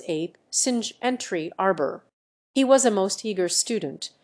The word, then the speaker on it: singe: in the same way he was taught to pronounce ape, singe, and tree arbor.